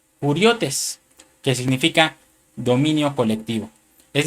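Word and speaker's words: κυριότης: Y esta palabra señorío, hermano, es la palabra griega del número Strong G2963, que se pronuncia kuriotes, que significa dominio colectivo, es decir, gobernadores.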